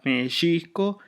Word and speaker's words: México: Eh, la X suena como sh, o sea, por ejemplo, en shochit flor eh mexisco, la forma original de la pronunciación original de México era meisco, mhot que significa ejote.